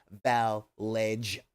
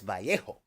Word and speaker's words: Vallejo: least speaks Spanglish and it is spelled EA um b-a-l-l-e-j-o that's not Val ledge oh it's not bellegio and it's not Vallejo it's Vallejo um although I also